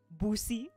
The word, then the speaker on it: Bussi: Bussi.